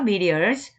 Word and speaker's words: meteors: not small reptiles, will be on comets and meteors, not small meteors인데 이제 발음이 flap 사운드에서 리을치로 발음한다 그랬죠? meteors.